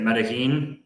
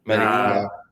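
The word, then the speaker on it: Medellín: Medellin. Medellin.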